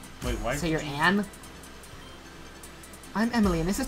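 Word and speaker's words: Agne: My name is Angie, spelled A-G-N-E, but the G is silent. Wait, why? So you're Anne?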